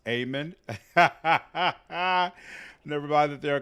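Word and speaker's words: Eamon: couldn't figure out that emen is pronounced amen never mind that there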